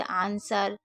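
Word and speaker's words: answer: जैसे आंसर, sword, to. आंसर यानी कि जवाब, स्वॉर्ड यानी कि तलवार और टू यानी कि 2। तो यहाँ पर आपको डब्ल्यू को साइलेंट रखना है, ठीक है?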